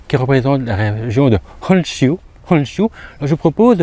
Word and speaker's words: Honshu: On va continuer la prononciation du U. Donc, Honshu, raison pour laquelle on rajoute un U à la fin de Honshu.